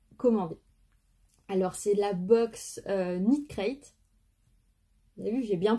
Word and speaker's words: Knit Crate: Alors, c'est la box Knit Crate. Vous avez vu, j'ai bien prononcé. J'ai entendu que le K ne se prononçait pas, sinon j'aurais dit Knit Crate.